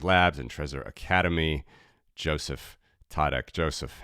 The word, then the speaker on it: Tětek: treaser and Satoshi labs and treasure Academy Joseph tadek Joseph how you doing hey happy to be